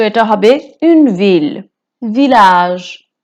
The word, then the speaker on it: village: village village হচ্ছে গ্রাম। ভিলাজেও double এলটা pronounce করা হবে।